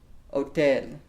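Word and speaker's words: hotel: estas at otel LOL you'll notice that the h in spanish is silent so Oh Ted donde esta la oficina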